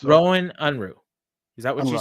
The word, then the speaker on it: Rohan Unrau: never okay so how how is it pronounced rowan unra okay so in my